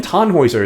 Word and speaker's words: Tannhäuser: Even Tannhäuser is only 3 syllables.